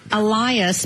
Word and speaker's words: Alias: His name is Elias, but it's spelled alias.